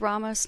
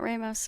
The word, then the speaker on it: Ramos: It's Ramos, not Ramos.